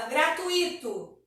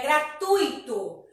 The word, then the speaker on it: gratuito: Não existe gratuito. É gratuito. O T e o I, eles saem de uma forma só. Gratuito. Percebe que a gente não separa o I do U. Eles ficam juntos na pronúncia.